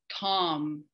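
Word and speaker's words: Traum: word in this poem and the word is Tom um which means dream uh and it's spelled t-r-a-u-m uh and so um okay so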